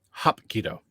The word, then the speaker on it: hapkido: supporting your support okay you have to pronounce like hop h-o-p that's it this hot Keto hop keto yeah there you go there's no ass sound in Korean okay is that Koreans